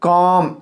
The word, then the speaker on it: calm: Okay, लेकिन यह सी का सौ, लेकिन कब को आएगा, CALL, काल, कॉल, CALM, कॉम, CARE, care. देखो काल, एल से लो, काल, CALM, काम, यल साइलेंट हो जाएगा।